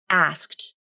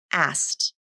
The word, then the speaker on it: asked: this word that means the middle k consonant can be dropped and that means this